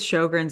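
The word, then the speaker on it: Sjögren: it up it does it's not spelled like it sounds it when you read it and see it spelled out it looks like a chair from Ikea um it's SJ o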